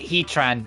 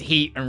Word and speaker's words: Heatran: know it's Diago and Palia or like Heatran and I say Heat Ran because it's heat and ran but no you pronounce the T as part of the second word so it's heatan and